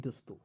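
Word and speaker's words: this: इसे क्या पढ़ते हैं बहुत लोग इसे थिस पढ़ता है क्या थिस थिस पढ़ता है क्या नहीं दोस्तों इसे क्या पढ़ते हैं दिस पढ़ते हैं क्या पढ़ते हैं दोस्तों देखिए टीच का प्रयोग द के रूप में करते हैं आई से छोटी ई की मात्रा और एस का प्रयोग स के रूप में ठीक है तो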